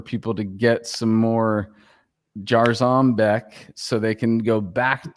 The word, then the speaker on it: Jarzombek: Hey, Ron, do you say Jarzombek or Jarzombek? I know. Jarzombek. Yeah. Yeah. You say?